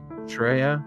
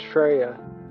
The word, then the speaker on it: Freya: in a second Australia Shreya it's Freya yeah well I don't